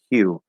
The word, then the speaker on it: hue: just like you but with a voiceless y in front of it so there's an h sound right he he so i'm doing i'm not moving my tongue because he he he you hue um and then you just have to get the lips and the tongue coordinated as you move into that y or that ooh sound um and there you